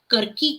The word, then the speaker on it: कल्कि: इसमें कल्कि भगवान शेमेंद्र ने उसका उच्चारण करकी किया है।